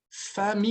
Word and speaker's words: famille: C'est ça, avec ma famille. Família. Família. Famille. Então, você vai pronunciar mi, tá? Assim, ó. Famille. O mi é D'accord? mi bem extenso, né? Isso, famille. Eu não vou fechar a boca.